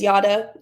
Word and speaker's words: Jara: So, like I said, my name is Yada. It is spelled Jara, but it's pronounced Yada, like yada, yada, yada.